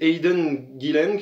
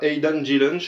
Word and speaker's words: Aidan Gillen: mec qui s'appelle alors comment il s'appelle c'est hayden guilhem quelque chose comme ça j'essaie de retrouver son nom voilà aidan gillen pas comme ça se prononce aidan rapide et